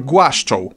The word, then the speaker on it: głaszczą: G is the same as in God, given or game, but not G in forge. For that kind of sound we have the combination of D and Ż, dżem, dżuma, or for double the fun, dżdżownica. Ły is like W in English work or way. A is another unchanging, never-bending vowel. It's not hard, but it is in the word hard, and that's what it always sounds like.